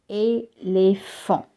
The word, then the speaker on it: éléphant: Éléphant, l'éléphant. See, in clay and elephant, you have an E with an acute accent and you read it as A.